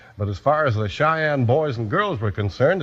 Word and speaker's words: Cheyenne: c h ye n NE e and it's pronounced Cheyenne today Cheyenne's the name of a town in